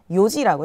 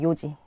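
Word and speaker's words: 四時: 그것처럼 시간을 이야기할 때도 내시는 요지가 아니라 시지도 아니라 요지라고 해야 돼요. 요지.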